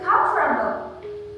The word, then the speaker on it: comfortable: say every single rose so we will say comfort temple but it should be comfortable we actually make a slice there comfortable not comfortable but comfortable the same glass for